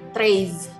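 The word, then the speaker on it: treize: di sini dibunyikan ya tapi yang di akhir ini bunyinya sama-sama Oh ya jadi Treez Hai hey selanjutnya 14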